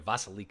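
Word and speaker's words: Vasilika: stood out above all vasilica I should I'm sorry vassal Iike along with Cambodia Vasiliki it's pronounced I've come to learn there were the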